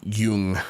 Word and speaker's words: Jung: on the theories of Swiss psychiatrist Carl CG Jung pronounced y Yung Yung sorry yian Laura yungi